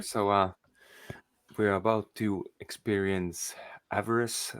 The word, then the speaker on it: Avarice: so we're about to experience Avarice. How do you pronounce it?